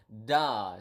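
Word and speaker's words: dah: du bye okay okay so da so with with with prolong a DA with prolong a then here right da okay duh okay so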